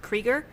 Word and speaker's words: Krueger: my name is krieger and the last name is spelled k-r-u-e-g-e-r so it looks like freddy krueger that would be a